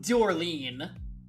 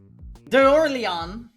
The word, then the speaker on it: D'Orleans: I've been saying Dorleen. D'Orleans. I actually kind of buy it. Fringe. A friend? The way I said it is closer. How... Phonetically, how are you supposed to? Yes. Dorleans. Oh, like with the S? I don't know why I thought the S wouldn't be pronounced.